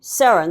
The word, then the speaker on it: Sarins: Sarins, that's how you pronounce Sarins.